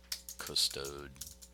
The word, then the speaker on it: custodire: Custodire, and that should be a long I there, and then that will be to guard there.